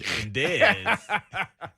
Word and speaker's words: Dez: Rhymes with Fez. and Dez.